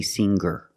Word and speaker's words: singer: these words with ER I don't pronounce the G sound it's just the nasal linked together with the ER together hanger there's no good sound I cannot say hanger I cannot say singer hanger and singer example he has hangers